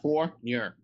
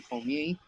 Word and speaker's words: Fournier: Fournier. I'm getting better. Basketball player is from France, and it should be Fournier. But they say Fournier because that's all people know is Southern Creole lingo.